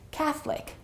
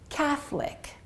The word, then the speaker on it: Catholic: by my students and in other languages the O is definitely pronounced so it might sound like colic or católica or católica but the O is always pronounced in those languages in English the O disappears and it's only two syllables and it sounds like this Catholic Catholic so let's repeat these